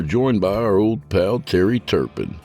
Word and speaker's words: Terrye: So tonight we're joined by our old pal Terrye Turpin, pronounced Terry.